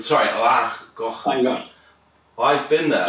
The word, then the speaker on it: Llangollen: Llangollen. Sorry, Llangollen.